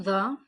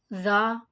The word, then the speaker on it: ظ: Don't say it like za or zwa or zwa or whatever. And don't make your lips round for zwa.